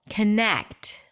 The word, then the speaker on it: connect: then you're absolutely right it's the second syllable connect longer louder higher in Pitch but if we were